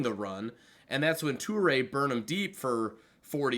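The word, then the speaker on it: Touré: So it's pronounced Toure?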